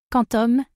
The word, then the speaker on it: Qtum: Cutum prononcé Quantum est une plateforme blockchain open source de type proof of stack post et un protocole de transfert de valeur.